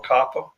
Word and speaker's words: COPPA: It's relating to the Children's Online Privacy Protection Act, known as, however you want to pronounce it, COPA or COPPA.